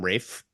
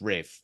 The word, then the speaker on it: Rafe: Doesn't So he pronounce his name Rafe? sorry, Rafe? Really? So, Are you sure the L is silent? and the A is long.